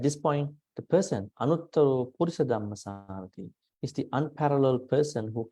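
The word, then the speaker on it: purisadammasārathi: Yeah, those people they pronounce Purisa Dhammasarati. This is incorrect. Not Purisa Dhamma, it's a Purisa Dhammasarati. No, it's no H.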